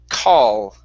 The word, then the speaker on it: call: mouth with your tongue so instead of C with an ending with an O It's call try that call okay almost so uh right now you're not touching the top of your tongue or the top of your mouth you're saying call okay so the difference the difference is that your tongue reaches up up and touches the top so I want you